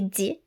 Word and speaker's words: dix: On prononce 6 et 10 comme si et di lorsqu'ils sont suivis d'un mot qui commence par une consonne.